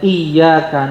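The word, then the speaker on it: إِيَّاكَ: Bukan hanya salah huruf, tapi mengurangi tasdid juga berbahaya, Pak, Ibu. Yang iyaka na'budu wa iyaka nastain. Kalau kita pakai tasdid, iyaka hanya kepadamu, kepadamu, kepada Allah. Nab'budu wa iyaka. Dan hanya kepadamu, kepada Allah kami meminta pertolongan. nastain. Tapi kalau enggak pakai tasdid, kata Imam Ibnu Katsir, maknanya iyaka dusus syamsi, sinar matahari.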